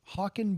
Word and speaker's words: Haakon: Me, Alex Tepley, Hawken Borstad. We would. Is that a name you've ever heard? Hawken. I knew it as a last name, Brody yeah. Hawkins. No, Hawken Borstad. It's spelled Haakon.